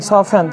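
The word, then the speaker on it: soften: मतलब सुनना एस ओ एफ टी ई एन सफन सफन का मतलब होता है मुलायम करना या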